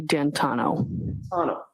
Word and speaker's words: D'Antuono: How do you pronounce the name? It's Ricky D'Antano.